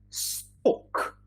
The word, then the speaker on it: stalk: Talk, walk, and Feli is also mentioning stalk.